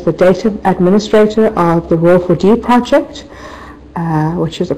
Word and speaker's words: ROER4D: research administrator for the RO for d project that's how I pronounced by the way Ro Ford standing for the research